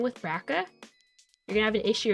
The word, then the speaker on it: BRCA: It's pronounced BRCA, apparently, BRCA, but people call it BRCA.